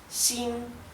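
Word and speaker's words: 新: No es ni xin ni xin, es xin a causa de que el tono alto en la I indica que se pronuncia así.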